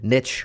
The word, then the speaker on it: niche: But again, niche rhymes with rich, so let's stick with that. That's why I pronounce it that way.